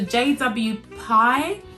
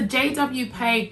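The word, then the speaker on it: JW PEI: to me it was the jw pie pay i mean i really need to start googling before i start pronouncing stuff for you guys it's a jwpay gabby handbag and when i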